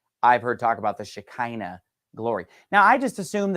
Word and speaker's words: Shekinah: want to talk about the word Shekinah or sometimes you'll hear it shahina different ways to pronounce it now I grew up